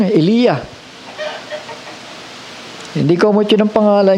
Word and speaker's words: Elijah: Yung pangalan niya ay God, my God is Yah, Elijah. Yun ang tamang pronunciation, Elia.